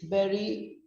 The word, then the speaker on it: bury: So the verb bury is bury rhymes with ferry.